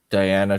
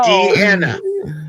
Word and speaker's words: Deanna: Diana Troy. That's it. He said it wrong again. Thank you. No, I said it correct. You American infidels said it wrong. No. Let me tell you this. So, Deanna.